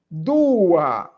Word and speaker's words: dua: Dua número dois que é o du e coloca um a.